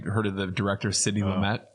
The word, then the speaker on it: Lumet: I don't know if you heard of the director Sidney Lumet. This guy pronounces his name Lumet, and isn't it pronounced Lumet though?